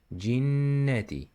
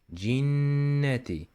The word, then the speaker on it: الجنة: And غنة means holding the noon sound through the nose for a longer time. In the word of jinnah here, jinnati, jinnati. You should close your mouth. In this case, jinnati, and keep your tongue on the gum area, jinnati, and let the sound vibrate in your nose, like minal jinnati.